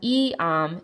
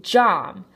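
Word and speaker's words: iam: Yam is not E-am, it's really jam.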